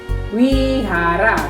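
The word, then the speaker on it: vihara: Wihara. Tulisannya V tapi bacanya W. Jadi wihara. Tapi tulisannya tetap V ya.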